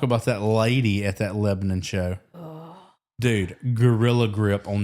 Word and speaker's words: Lebanon: Lebanon, That's how you say it, Virginia.